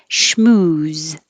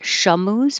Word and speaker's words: schmooze: riot exactly the same schmooze the sh and the m no delay not shamus but shmu subsequent subsequent and the